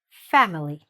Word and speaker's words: family: The very first word is the word family.